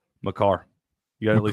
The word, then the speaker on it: Makar: I'm thinking let's go with Kale Maker. Makar.